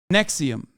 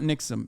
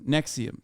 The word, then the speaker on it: NXIVM: prison for sex trafficking Nexium not nixum Nexium sorry not only has